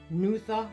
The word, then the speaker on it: Nuada: During this encounter, the Danann High King Nuada Argethlum, pronounced Nutha Orgethlum, lost his arm.